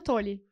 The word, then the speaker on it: Toli: Então, pessoal, pronúncia certa, não vamos falar errado, é tolle distribuidora.